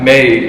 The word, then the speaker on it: my: So like May, like we say May is because May in Afrikaans is like my same spelling, Okay. but like different pronunciation.